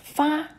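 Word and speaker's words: 发: Hair is fa in Chinese, which sounds like the word for prosper, fa.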